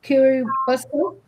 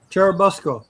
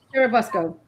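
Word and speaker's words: Churubusco: and living in I'm going to try and pronounce this because you know the word I'm going to try and say kuruco churabusco churabusco Charles workman was involved in bootlegging runs to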